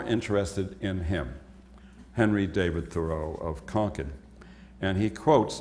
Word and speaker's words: Thoreau: Thoreau.